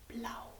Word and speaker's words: blauw: And again, ow, from ow. So you pronounce it the same as O-U. A-U is also ow, blauw.